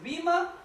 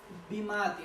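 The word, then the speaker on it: βῆμα: veces, déjeme decirle algo, 11 veces aparece esta palabra en griego que es bima o bimatos, ¿ok? Bima o bimatos. Algunos dicen bimati, ¿ok? Como quiera pronunciarle.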